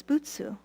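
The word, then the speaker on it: 仏: is compassion and so what is busu and BSU as we know it is um the Japanese way of pronouncing Buddha and Buddha means one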